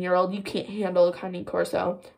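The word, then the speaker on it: Cane Corso: i'm butchering that name i still don't really know how to pronounce it i'm gonna that's how akane corso breeder pronounced it though so i'm pretty sure i'm pronouncing that right kanye corso it's not king corso that's very bad but kanye corso i wanted one and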